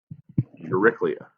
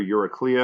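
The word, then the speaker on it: Eurycleia: you they have written your Rick Leah as well your Rick Leah or Yorick Leah and however you want to pronounce that they're they're both acceptable here is a maid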